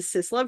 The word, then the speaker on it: SisLove: But since you say SIS the same way as you say CIS or cisgender neutral, it's a cis love shawl, and it's got some slight unfortunate implications that don't Yes.